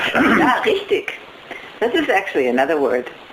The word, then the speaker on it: richtig: So it's like Rick tick, but the K is like a soft K. It's a very soft Rick, K. It's close to a G at the, I mean, it's spelled with a G at the end, so it's also a softer sound. The last sound is a G.